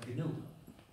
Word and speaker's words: GNU: En inglés el nombre se pronuncia GNU. Y es un acrónimo recursivo, GNU's not Unix. O en castellano, GNU no es Unix. Pero en castellano lo pronunciamos GNU como si comenzara por ñ.